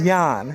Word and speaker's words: Jon: But yes, the pronunciation of my name is Jan.